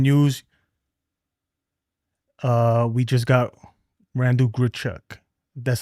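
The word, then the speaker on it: Randal Grichuk: Uh, we just got Randall Grchuk."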